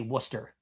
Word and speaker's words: Worcester: The city is spelled out Worcester, and they say Worcester.